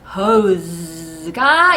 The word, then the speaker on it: hose: 스 이 발음에 호도 틀렸고 스도 틀렸어요. 여태까지 우리는 속아왔던 것입니다. 그래서 호스 아니고 Z의 소리라는 점. 그래서 hose가 이 아이의 진짜 이름이었다.